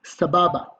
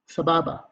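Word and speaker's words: סבבה: so you the way to say it is Sababa Sababa second word is okay for male hottie or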